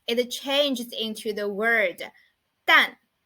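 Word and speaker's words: 旦: And the pronunciation of it is 淡. 淡.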